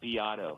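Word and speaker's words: Beato: beat b e a t o but it's pronounced Bato he's incredible he was a music producer um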